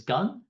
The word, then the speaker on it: Gung: And so for those of you that don't know me, my name is Gung. It's pronounced like gung ho, if that's easier.